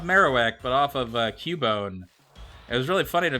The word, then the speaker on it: Cubone: pokemon it's cabon and they pronounced it cabone instead of cubone and that was really